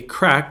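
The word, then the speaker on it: craic: it was funny uh now I have a little bit of Irish in me and so you know CR a i c crack what's the crack that's not like crack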